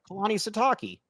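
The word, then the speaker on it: Kalani Sitake: Proud of you for pronouncing his name right, by the way. Kalani Sataki.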